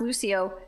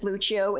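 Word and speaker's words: Lúcio: was like uh yeah I think his name is actually pronounced Lucio and they're like uh no dumbass his name is Lucho it's Brazilian and then it just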